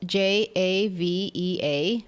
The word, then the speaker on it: Jávea: So Javea is spelled Javea, and I'm sure you can start hearing, when we do say towns or words in Spanish, we have that wonderful ja, Javea, and in Valenciano is Xàtiva, right, with an X.